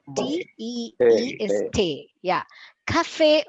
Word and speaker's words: Tee: Oh, It's the same spelling, Kie. but it's not tea. T-E-A, it's T-E-E. Ich trinke Tea. tea. chai. Thai. Chai. Yeah. So ich trinke Tee. Tee. T-E-E is Hey.